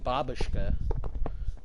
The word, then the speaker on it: Babushka: Babushka is actually pronounced Babushka, which means grandma.